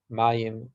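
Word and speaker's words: מים: And they're called Eish, Mayim, Ruach, Ofar. Eish is spelled Aleph Shin, Eish.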